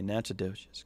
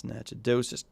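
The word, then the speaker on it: Nacogdoches: in the rains is out in nowhere name nachodoges that's how you pronounce that by the way nachodocious county that's nachodosus texas um good line of storms there but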